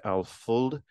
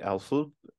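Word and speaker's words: Alföld: you just recently released alfold I think Alpha you said is how you pronounce it so can you tell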